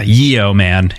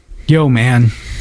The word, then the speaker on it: yeoman: spelled slightly differently yeah Yeo man is how you would spell it but it is pronounced yeoman in the same way yo man yeah very very interesting